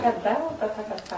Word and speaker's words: Tathagata: Então, Tathagata. Tathagata. Tatu. Na verdade, em japonês, todas as palavras não tem uma acentuação mais forte numa sílaba, todas elas têm a mesma Não, eu queria só saber se termina com dado ou tatu.